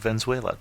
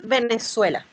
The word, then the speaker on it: Venezuela: who has come to talk to us about vuela Diana welcome to the show thank you and first of all I know I'm pronouncing the name of the country wrong so